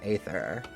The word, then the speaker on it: Aether: knows how to pronounce Aether being fair it's a bloody tough word which who decided a e should be pronounced e it should be like